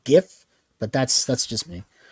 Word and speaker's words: GIF: the spelling makes sense so if you see a g it want it to be a hard G sound gift but that's that's just